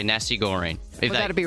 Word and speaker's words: nasi goreng: Straight off the top, the code word you need for Flyaway Fridays is Nasi Goreng.